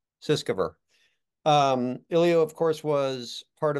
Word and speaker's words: Sutskever: I don't even know how to pronounce his name. How do you say it? Ilya The Sutskever. Sutskever.